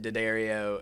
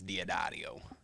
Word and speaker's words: Diaddario: thing but but yeah so we pronounce it Daddario and but I believe the correct pronunciation is diadario I got you okay